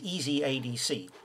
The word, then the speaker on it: ezadc~: here is easy sorry this one here is easy ADC which if you remember uh DAC stands for